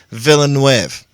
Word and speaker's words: Villeneuve: Forrest Gump writer Eric Roth to pen Dennis Villeneuve's Dune reboot. They're rebooting Dune, officially. Wait, did you just say Dennis Villeneuve? Because that's what it sounded like you said. And it's supposed to be Dennis Villeneuve.